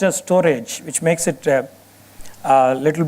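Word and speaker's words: Storj: highlight one such platforms called storage it's called storge but it's pronounced as storage which makes it a little bit difficult to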